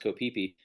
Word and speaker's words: Koh Phi Phi: DiCaprio, and it's spelled PHI dash but it's pronounced Koh Phi Phi.